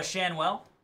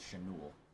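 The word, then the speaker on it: Schanuel: one of one Noah is it sh shanwell yeah Noah shanwell I always thought it was chanu shanell thank you sir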